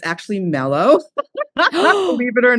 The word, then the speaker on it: Meloe: Satomi, it's actually Mellow.